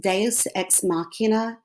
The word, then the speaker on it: deus ex machina: macbeth and that's called i think it's latin pronounced deus ex machina it's god in the machine which means it's